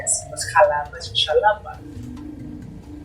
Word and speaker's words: Xalapa: Y así no es Jalapa, es Xalapa. Y entonces van a encontrar muchas las cosas. La X no se pronuncia como S.